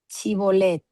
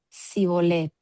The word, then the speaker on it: Shibolet: Entonces le decía, "Ahora pues di chibolet." Y él decía cibolet porque no podía pronunciar correctamente. Entonces le ech le echábamos y le degollaban junto a los bardos del Jordán.